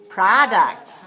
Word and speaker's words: products: do we have here for products number of syllables products two where's this dress one so we say products right okay so business is an enterprise that